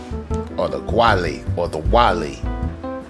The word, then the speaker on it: Guale: with this little Wikipedia article the quietly right pronounce Wally like shout out to Wale shout out to